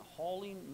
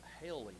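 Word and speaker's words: haling: of the church entered into every house and Hauling men and women committed them to prison now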